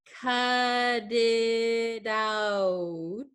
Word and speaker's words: cut it out: Cut it out. So this last T is kind of going to disappear.